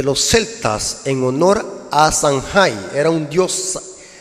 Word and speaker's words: Samhain: Es un festival celta llamado Festival de Samhain, así se pronuncia, Samhain, que según los celtas ocurría el 31 de